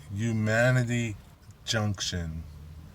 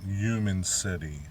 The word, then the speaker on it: Humanity Junction: It's Humanity Junction, not Human City, okay? Humanity Junction, the C is silent.